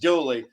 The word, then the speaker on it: Dula: Dula, D-U-L-A, pronounced Dooley, a Confederate veteran who